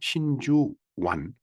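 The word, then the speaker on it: 真珠湾: 진주만 공격 한자로 쓰면 그렇고 일본 을 발음으로 읽는다면 신주완 만을 완이라고 읽네요. 통상 만은 거의 발음이 만 이렇게 똑같은데 우리나라하고 일본 발음이 저 만자는 어, 완으로 읽네요.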